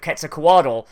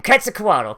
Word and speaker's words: Quetzalcoatl: that they were emissaries of Quetzalcoatl, like signaling his return.